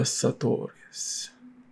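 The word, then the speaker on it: sartorius: and across the thigh is the sorus I have to say it like that the satorius and it still to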